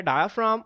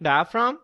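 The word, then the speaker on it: diaphragm: अक्सर बच्चे इसमें से जो है वो जी को जो है वो मिस कर देते हैं क्योंकि इसकी प्रोनाउंसिएशन में जो है वो इस्तेमाल नहीं होता।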